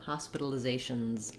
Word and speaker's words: hospitalizations: One more thing to mention, when we add an S to make it plural, we add the Z sound. So hospitalizations, hospitalizations.